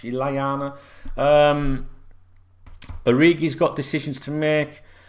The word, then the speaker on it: Lallana: Shaqiri will be off in the summer, I expect, as will Lovren, Lallana, or Lallana, however you want to pronounce it. Double L, Spanish, Lallana.